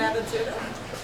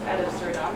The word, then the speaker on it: ad absurdum: Well, have you not read the legal definition ab absurdum? No, you're not even saying it right. It's ad absurdum, and I don't even know what you're talking about.